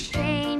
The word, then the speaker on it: Shane: My name is Shane. It rhymes with rain.